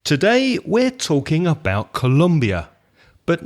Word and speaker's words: Colombia: I know in Spanish it's, forgive my bad pronunciation, but something like Colombia. Is that more or less right? That's how I would say it, Colombia. Yeah. But in English we tend to say Colombia. So that second O, we pronounce it different to the first O.